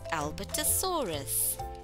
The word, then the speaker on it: Albertosaurus: Let's pronounce Albertosaurus. Albertosaurus.